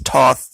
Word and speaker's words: Thoth: region and areas like this Ancient Man worshiped Thoth I've I've heard it pronounced a bunch of different ways it's Toth tho t h th basically is how it's